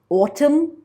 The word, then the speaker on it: autumn: words right and ring n in the words autumn and him g in the words